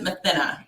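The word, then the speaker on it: Mathinna: I pronounce it Mathina.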